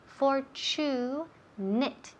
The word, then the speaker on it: fortunate: Fortune, la TU suena como si fuera CH. Fortunate. Y la terminación termina en ATE, pero se pronuncia como si fuera it. Fortunate. Fortunate. Repeat. Fortunate. Yes, fortunate. Y el énfasis en la primera sílaba.